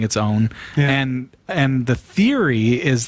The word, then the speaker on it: pwn: way to go Sasha for years I always just called a pawn pawn yeah you can kind of call it whatever you want you can say pond or whatever but realistically I think its own and and the theory